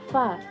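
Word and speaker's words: 发: In Chinese, this word is pronounced fa, which means hair, while this word is read fa chai, which means making money or getting rich.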